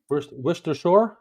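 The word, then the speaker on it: Worcestershire: prier uh yes he did there you go wer Shore that's how you say it wers w wers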